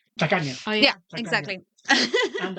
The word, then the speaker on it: tacaña: I love traveling and I'm also a Catania. No, how do you say it? Tacaña.